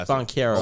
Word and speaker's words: Banchero: It's Banchero.